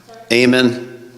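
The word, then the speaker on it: Eamon: Aean. Aean.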